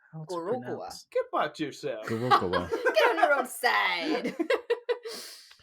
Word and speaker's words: Gorogoa: Well, Gorogoa. It's not Gora anything, it's Goro!